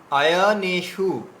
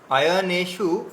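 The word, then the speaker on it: অয়নেষু: হ্যাঁ, দেখুন, আয়নেশু, আয়নেশু, এখানে নেটা হচ্ছে দীর্ঘ আছে, তাহলে আয়নে, আয়নে শু, আয়নেশু, ঠিক আছে।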